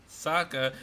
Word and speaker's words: Sokka: And Sokka rhymes with Akka.